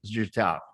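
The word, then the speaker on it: життя: it's actually I use your pronunciation, but it's actually Zhittya, which means light.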